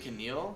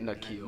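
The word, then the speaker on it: N'Keal: Is it Keneal? Is that how you say it? Nikhil. Nikhil. Nikhil. It would be Keneal if the K came first.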